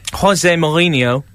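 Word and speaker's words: José Mourinho: Jose Mourinho.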